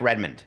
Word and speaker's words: Redmond: man it's not Mike Redmond we know it's spelled red David redond no one ever said red man it's Redmond it's not red man it's a world poool